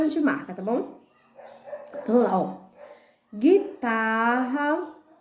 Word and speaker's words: guitarra: gente marca tá bom guitarra é guloso bangu a guinada mangue agulha guia ninguém então voltando vamos lá quem foi nós marcamos de guitarra a letra u tem pronúncia não então marque guitarra guloso